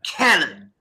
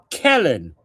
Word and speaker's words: Kellen: So it rhymes with melon.